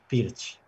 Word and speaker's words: Pirc: So I said Perch, but it's actually Pirch. Yeah. There you go. That's how you pronounce it, everybody.